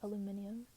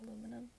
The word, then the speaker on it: aluminum: I used to pronounce it aluminium, and then just like with the other ones, my friends would like make fun of me for saying it like that, so I started saying aluminum because that's how everybody else said it.